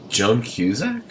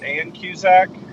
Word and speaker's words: Ann Cusack: Did you say Joan Cusack? I think I got her name wrong. Did I get her name wrong? Is it Ann Cusack? Yes.